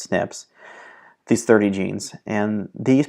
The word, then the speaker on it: SNPs: and from now on we'll defer to them as snips snps or pronounced snips these 30 genes and